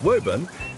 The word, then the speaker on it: Woburn: Woburn, sometimes pronounced Woburn, has been burned down and rebuilt three times, once by the Cavaliers during the Civil War.